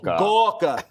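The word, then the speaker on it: Gorka: Uh that's actually how you pronounce his name. Gawka.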